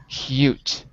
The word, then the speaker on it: cute: And why does it match with cute and not the word cut in column A? because there is a silent E at the end of the word.